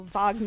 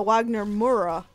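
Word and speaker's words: Wagner Moura: guy named Wagner or Vagner I don't know if he says Vagner like the German or if he says Wagner or Wagner uh Wagner mura I think that's how you say it but he's he's a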